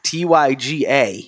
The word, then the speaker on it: Tyga: No, because that's how we would pronounce it without the R. Yeah, Tyga.